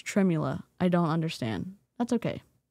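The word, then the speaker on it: tremella: I don't know why it's spelled tremla with an e when it's tremula.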